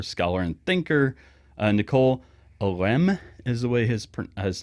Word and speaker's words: Oresme: and thinker, uh, Nicole Om is the way his his last name is pronounced. It looks like Oresme or whatever, but it's OM cuz he is a French person.